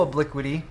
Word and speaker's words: obliquity: high obliquity and low obliquity okay is am I pronouncing obliquity correctly obliquity you have to be obliquity there's no other way to pronounce that yeah so um you